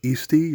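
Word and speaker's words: Eesti: it's one croon there you can see how they pronounce their own country something like eastie or st moving on we have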